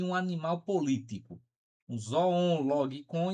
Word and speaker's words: zoon logikon: O homem como um animal racional, que ele chama isso de zoon logikon, viu, gente? Zoon logikon.